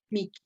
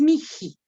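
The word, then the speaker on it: mihi: Miki, es Miji. Acuérdense que es la marca de aspiración, Miji.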